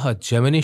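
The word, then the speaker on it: Gemini: अशोका मित्र ने जो जेमिनी Studios, आप इसको जमनाई भी कह सकते हैं, बोथ प्रोनाउंसिएशंस आर करेक्ट, लेकिन यहाँ पे जमनाई आप बोलिए तो ज़्यादा बेटर रहेगा।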